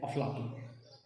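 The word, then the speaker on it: أفلاطون: और प्लेटो का जो शुद्ध यूनानी उच्चारण है वो है प्लाटोन, और अरबी भाषा में इसे क्या कहते हैं, अफलातून।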